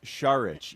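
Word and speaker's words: Šarić: So if your name is pronounced sharic yet you continue to intentionally well then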